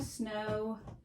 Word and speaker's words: snow: that it's a digraph the w is silent we cross it out the o is long we covered with a